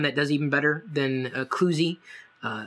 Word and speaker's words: Cluzee: does even better than kuzie uh at least I pretty sure that's how you pronounce it c u Ze or if you want